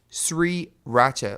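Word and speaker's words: 3RACHA: And they're known as Sri Racha, like 3, the number 3, Racha, And in Korean, you pronounce 3 as sri.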